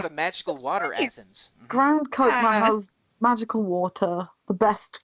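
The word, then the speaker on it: Grand Chokmah: I think we each pronounced it a different way. Grand Kokma. It's Grand Kokma.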